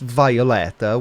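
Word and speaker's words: Wioletta: Happy birthday, Violetta. If it's pronounced Violetta, why start it with a W? That's a waste of time and a waste of a letter.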